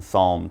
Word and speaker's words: psalm: pronounce it psalm remember we have a silent p so just pronounce the S now actually for the